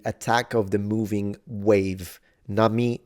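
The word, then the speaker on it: 波: Nami means wave. It's pronounced ha when in combination, kanji, multiple kanji combination.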